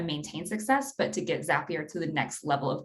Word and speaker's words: Zapier: myself in my head zappier rhymes with happier and that's how I remember it that's a nice way